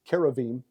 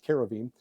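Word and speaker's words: כרובים: uh the cherubim uh actually in Hebrew we are told by our tour guides thank you yesai and CTI it's kavim so we try to you know just pronounce it the way the Hebrews pronounce it the Jews pronounce it kavim um we've got again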